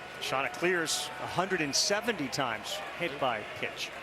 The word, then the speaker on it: Chanticleers: Oh yeah, Kevin Schnall's running around making sure it's Chanticleers, C-L-E-E-R-S. Don't mess it up.